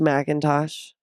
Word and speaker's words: McIntosh: it's miy wow my last name is pronounced Macintosh my Instagram handle and Tik Tok handle are